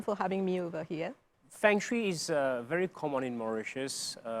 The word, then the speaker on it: Feng Shui: Well, Feng Shui is in fact pronounced as Feng Shui.